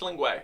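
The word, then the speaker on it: Lingua Ignota: So I've heard some people pronounce it lingua. Are you sure it's lingua?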